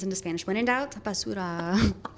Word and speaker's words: basura: Basudo. Is that how you say trash? Basura.